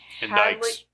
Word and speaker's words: indict: Indicts. Indicts, yes. Indicts, yeah. Indicts. Indicts. Indicts. The C is silent.